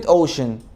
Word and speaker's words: ocean: بص يا سيدي، اول ما تلاقي حرف السي جه بعديه تو فاولز بنطقوا شين. تو فاولز، ايه هم الفاولز؟ A I O U E. أول ما تلاقي حرف السي جه بعديه حرفين من دول بنطقوا شين، زي كلمة ocean، زي كلمة إيه كمان؟